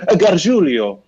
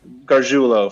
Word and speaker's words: Garjulo: I think when my dad, my great grandfather came from Italy, he probably would have said Garjulio, but we just Garjulo for us. Garjulio. So it does not rhyme with Coolio.